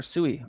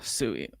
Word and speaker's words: Sui: man I can't get behind that all right pronounce suie again here suie let me show you H suie this is suie we started talking about sui